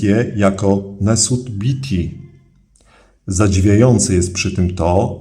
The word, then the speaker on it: Nesut Biti: W uproszczeniu jednak te hieroglify tłumaczymy po prostu jako król Górnego i Dolnego Egiptu, wymawiając je jako Nesut Biti.